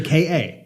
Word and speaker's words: Ka: look at the documentation Ford leadership says the KA the KA as as is pronounced with the first two letters of the word cat oh my God so